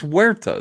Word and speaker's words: Huerta: It's Huerta. That's how to pronounce it. It's Huerta. Huerta.